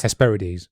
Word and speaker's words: Hesperides: the trees of the Hesperides. I think it'd be Hesperides. Hesperides, yeah, sorry. You always pronounce the E's in the end of Greek words. Hesperides, sorry.